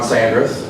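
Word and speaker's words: Sandreth: the viewings good morning my name is sandras that's spelled s-a-n-d-r-e-t-h um I'm actually here representing two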